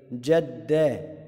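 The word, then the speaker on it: جدّ: جد، جد الطالب في المذاكرة، جد. لو انت خدت بالك كده وناصح هتعرف ان جد الدال هنا اولاد مضاعفه، يعني تحس ان انت نطقتها مرتين لان عليها شده، يبقى ده على طول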